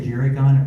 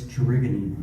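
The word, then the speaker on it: Gerygone: Most people say Jerrygon. Apparently it's jergony.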